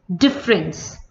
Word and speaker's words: difference: Next word is difference. Difference. Here again E is silent and the correct spelling of difference is D-I-F-F-E will come over here.